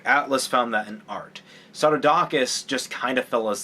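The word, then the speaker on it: Psarudakis: Was to establish and affirm this alliance between this kind of trinity between Pseudodocus, which, by the way, it's Pseudodocus is spelled P-S.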